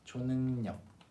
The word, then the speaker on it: 초능력: And the pronunciation is a little bit different from the writing. 초능력, 초능력. If you've had trouble, yeah, this is how you pronounce it.